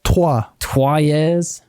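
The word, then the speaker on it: Troyes: It's twa. It's like the French word for Troy.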